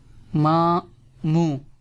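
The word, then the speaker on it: ماموں: N in here silent, like in here the N is without dot, so N will be silent. Mamu mean uncle from your mother family.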